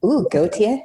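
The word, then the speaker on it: Gautier: It's not spelled like the singer. It's not like the New Zealand guy. It's very French. G A U T I E R Goateier.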